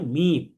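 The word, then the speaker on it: ميم: এখন এই দুই ঠোঁটের যে শুকনা অংশ আছে, অর্থাৎ বাহিরের যে অংশ, যেটাকে আমরা পিঠ বলতে পারি, যেটা সবসময় শুকনা থাকে, ফাটা থাকে, এই দুইটা শুকনা অংশকে যদি আমরা মিলাই, তাহলে তখন উচ্চারণ হয় মিম।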